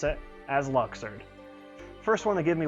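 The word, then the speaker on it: Luxord: this list as for charity yes this applies luxured yes i pronounce it as luxured first want to give me one million dollars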